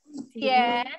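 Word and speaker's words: 咸: Jian, ikuti Laoshi. Jian itu asin.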